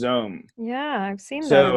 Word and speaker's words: Xome: It's called XOME, and it's pronounced Zome.